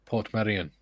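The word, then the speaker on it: Portmeirion: the television series a prisoner was filmed at P Medan it is okay it's just that simple okay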